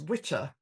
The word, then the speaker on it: Wicca: But in Old English, Wicca was pronounced witcher, and it meant a male witch.